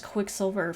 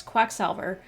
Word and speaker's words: Quacksalver: I think I have a little bit of dyslexia sometimes, and so I read his name as Quicksilver for some reason. It's Quacksalver Extraordinaire.